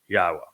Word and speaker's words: Yahowah: every generation was as yahwah and he even told us how to pronounce his name through the verbal root of his name which is haa meaning to exist and it says of